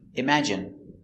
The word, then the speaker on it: imagine: at the pronunciation pronunciation imagine M im a im J J strong sound image I imag imagine imagine stress on the second syllable imagine imagine imagine imagine